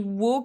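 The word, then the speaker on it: を: a la particule wow donc il s'écrit wow qui se prononce en général plutôt haut sans le W et avec quoi ça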